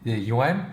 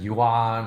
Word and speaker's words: yuan: I just say the UN people like what's the UN and it's only because people have been listening to American commentators mispronounce the Chinese currency and a lot of them say that yuan or the yuan or